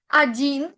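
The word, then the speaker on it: один: La primera letra o se va a leer como una a. Recuerden que la pronunciación en el idioma ruso no es la misma como vamos a escribir, eh, sobre todo la o.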